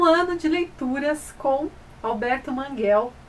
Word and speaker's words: Manguel: Eu sempre falei Alberto Manguel, porque eu ouvi inclusive de professores Alberto Manguel e acabei descobrindo que em espanhol a pronúncia correta é Manguel.